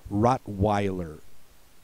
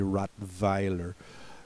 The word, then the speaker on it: Rottweiler: called BR worst uh then we have have Rottweiler uh the Germans would say rot Vier Rottweiler is a again